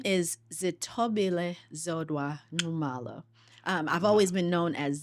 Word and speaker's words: Nxumalo: Nxumalo. Wow. Nxumalo. So when they taught you your name as a child, they made that noise and said, you have to say it like this.